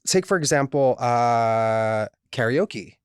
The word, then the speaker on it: karaoke: Like take for example uh karaoke. Like people say karaoke, but growing up in Hawaii it was karaoke. Like we would go to karaoke.